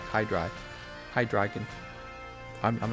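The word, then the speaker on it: Hydreigon: hi drop the dragon it's not hi dragon said hide like dry that's what it looks like hi dry hi dragon I'm not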